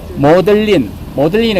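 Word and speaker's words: Magdalene: 그래서 곰빌 앤 카이우스 칼리지라고 해야 되는데, 앞에서 우리가 막달란이라고 안 하고 뭐라고 읽는다고 했죠? 모들린을 읽는다 했잖아요.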